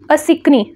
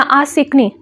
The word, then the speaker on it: असिकनी: इसका जो ancient name है उसको बोलते हैं असिकनी, ठीक है, या आसिकनी, ठीक है। अ भी बोल सकते हैं, आ भी बोल सकते हैं, प्रोनाउंसिएशन डिफर करती है, ठीक है।